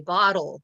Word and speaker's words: bottle: Like, I could say bottle with the T sound, but if I listen to myself, that's not really how I say it. I say bottle, and it sounds like a D.